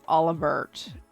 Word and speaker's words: Olivert: what really is you so he's Olivier but his actual name is olivert I looked up pronunciation Captain Schwarz what